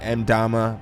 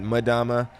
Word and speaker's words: Mdama: I know a lot of people pronounce it Mdama, but I pronounce it Mdama. I think it sounds better that way, and I don't know, I think it's just really cool.